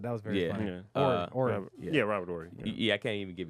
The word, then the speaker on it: Robert Horry: Like, You don't pronounce the H, but that was very funny. yeah. Robert Horry.